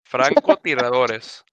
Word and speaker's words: Francotiradores: Francotiradores is the name of this squad. Okay, gentlemen, that's how you pronounce it. You got to roll that R.